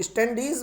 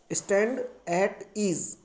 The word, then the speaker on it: stand at ease: वो स्टैंडीज वर्ड नहीं होता, बल्कि राइट वर्ड होता है स्टैंड एट ईज।